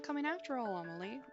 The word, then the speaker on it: Amelie: not coming after all Amal I think it's pronounced amaly there's no need to